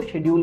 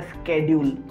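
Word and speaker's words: schedule: मुझे शेड्यूल और स्केड्यूल दोनों वर्ड प्रोनाउंस करना आते हैं, सो डोंट बी कंफ्यूज कि मैं गलत बोल रहा हूँ। वन इज़ फॉर UK English and वन is from American English, so I know about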